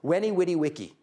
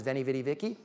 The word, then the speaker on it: Veni, vidi, vici: Julius Caesar writing from Gaul, 50-something years ago, Veni, Vidi, Vici. Anyone heard that? Mispronounced by Americans who don't know Latin as Veni, Vidi, Vici?